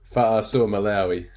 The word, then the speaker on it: Fa'asuamaleaui: Haas playing for them, and let's imagine Tino Famusalai, how do you pronounce it? Fa'asuamaleaui.